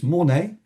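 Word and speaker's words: Mornex: And then a little further north from Chamonix is Mornay. I believe it's pronounced without the X.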